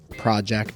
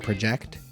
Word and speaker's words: project: the meaning, the emphasis, like project and project, the emphasis switches to the second syllable.